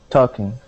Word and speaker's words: talking: the word is talking the L is silent instead of saying to talking it is T talking okay try that talking good good nice job